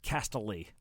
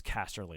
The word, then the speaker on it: Casterly: i love i love that like you just castily like like oh yeah that's sure that's why it's spelled castle like it smells stupid like that but yeah castelly rock and then yeah just spelled the same